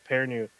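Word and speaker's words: Perrineau: His last name is like French. I was gonna try to. Pernu, yes, that's like Pernu. very long, but it's pronounced very short.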